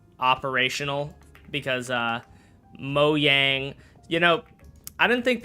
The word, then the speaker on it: Mojang: They were like, "It's not Mo Jang, it's Mo Yang." And like, "Shut up. Shut up, nerd." Um, however, I think technically speaking, they are correct. But also, I think a lot like I pretty much everyone pronounces it as Mojang.